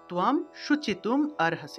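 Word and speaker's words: শোচিতুমর্হসি: আরহাসে এই যে দেখুন এই শব্দটাকে যদি আমরা ভাঙ্গি এই যে ম একটু আগে বললাম না যে দ তারপরে ম উচ্চারণের ক্ষেত্রে অ এর সাহায্য নিতে হয় এই ক্ষেত্রে এই শব্দটাকেও ভাঙলে যে ম এবং সাথে একটা অ চলে আসে সেজন্য আমরা এখানে যেহেতু ভেঙে ভেঙে স্পষ্ট করে উচ্চারণ করতেছি সেহেতু সুচিতুম আরহাসি এইভাবে উচ্চারণ করা যায় সুচিতুম আরহাসি এইভাবে উচ্চারণ করবেন তা এই ছিল উচ্চারণ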